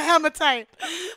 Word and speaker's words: hematite: All Hematite? Right. One more time? Hematite. Like, stomatite. Hematite.